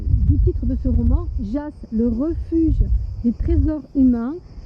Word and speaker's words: Jas: chose d'assez fort alors le mot Jas ça se prononce avec un S et pas avec un Z on m'a fait remarquer d'ailleurs cette petite chose là Jas alors JAAS ça veut